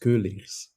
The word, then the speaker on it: Keuleers: how to say it it's uh pronounced coers coers okay yeah well typ typical Dutch vowel which is a very unusual in other languages yeah you're you're Belgian